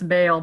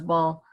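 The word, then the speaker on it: Baal: Duke and that is ball or we usually pronounce bail but actually the better pronunciation is ball ball is a kingly deity he wants supremacy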